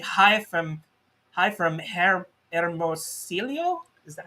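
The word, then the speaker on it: Hermosillo: is uh who's saying hi from hi from hermosilio is that how you pronounce it yeah i'm like this is your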